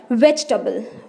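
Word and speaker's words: vegetable: किस पे देना है, वेज पे ज़ोर देना है, ठीक है। इसकी सही प्रोनाउंसिएशन है वेजिटेबल, वेजिटेबल, वेज टेबल नहीं बोलना, वेजिटेबल, टबल, ठीक है।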